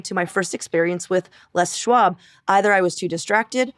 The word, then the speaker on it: Les Schwab: And so I proceeded to pronounce the name like it was French until six months ago when I actually heard someone pronounce the name correctly.